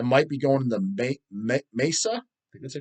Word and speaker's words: Mesa: ] tickets I might be going in the Mesa because they pronounce it Mesa m-e-s-a Mesa Arizona show um because my sister-in-law